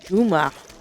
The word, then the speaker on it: Juma: I see with J Jama isn't it doesn't jump out it yeah but if I said Juma oh is that how it's pronounced in the in the sand area yeah yep it it